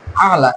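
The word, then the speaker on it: الأعلى: হচ্ছে সর্ব শ্রেষ্ঠ সর্বশ্রেষ্ঠ এখানে আলা এটা আই আইনের উচ্চারণটাও এরকম লকের শেষবার ভাগ থেকে উচ্চারণটা করতে হবে সুবহানা রব্বিয়াল এরকম তো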